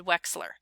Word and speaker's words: Wechsler: those developed by david wechsler that ch is pronounced like an x wechsler developed different tests for